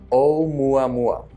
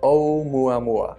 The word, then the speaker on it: 'Oumuamua: You pronounce it Oumuamua. That's Oumuamua. And that's appropriately a Hawaiian name after the Hawaiian telescope which discovered it, which means a messenger from afar arriving first.